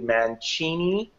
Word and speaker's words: Mancini: And then Dom and Jody Mancini, that's how you pronounce the last name, they've done that too